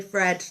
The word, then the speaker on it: thread: I'm from Liverpool and we don't tend to pronounce our th's so I always say Fred like the weatherman Fred and but there we